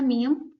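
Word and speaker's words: 미음: में मैंने लिखा है मियम इंग्लिश में मियम और हिंदी में मियम इसका उच्चारण हिंदी वर्णमाला के म की तरीके से होता है म मछली माता ठीक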